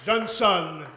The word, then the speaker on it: Johnson: Monsieur Johnson, et je le prononce à la manière du général de Gaulle, Monsieur Johnson a toute sa vie durant nourri un nationalisme affirmé.